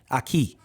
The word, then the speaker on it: Aki: My fault, Aki too. My, you know, homies from high school, black owned, 9.5 pH balance. Make sure you pronounce it correctly. Aki.